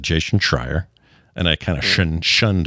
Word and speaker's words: Schreier: name slowly so you don't accidentally say Jason Schreier, which I did once in the interview.